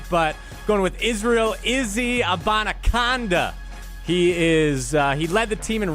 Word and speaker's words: Abanikanda: You just wanted to show off that you can correctly pronounce Abanikanda. Yes. Abanikanda.